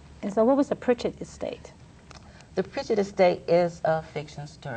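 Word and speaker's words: Pridget: So now we spell P-R-I-D-G-E-T. Okay. You know, but they still pronouncing it Pritchett.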